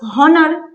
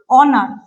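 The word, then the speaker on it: honour: আর কি হতে পারে আমি যদি বলি অনার ধর বললাম অনার তাহলে দেখ এই উর তাহলে উচ্চারণটা কি হওয়া দরকার হনার কিন্তু তাতো হচ্ছে না হচ্ছে অনার এই জায়গাটা অন এর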